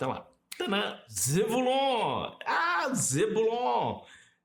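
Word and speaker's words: Zebulun: Ah, Zebulon. Na pronúncia é Zevulun. Zevulun. Tá aqui como é a pronúncia hebraica, para facilitar.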